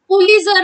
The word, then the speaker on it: Pulitzer: Here T is silent, Pulitzer, but you will read it as Pulitzer Award.